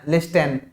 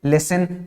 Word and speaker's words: listen: बोल रहे हैं ना, लिस्टन, लिस्टन तो नहीं बोल रहे हैं, क्या बोल रहे हैं, लिसन। मतलब यहाँ पे ये जो टी है ये कैसा है, साइलेंट है, इसको प्रोनाउंस नहीं करेंगे,